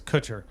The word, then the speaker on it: Kutcher: Some people that may need therapy after this week are Mila Kunis and Ashton Kutcher, possibly, because they have gotten themselves into the headlines.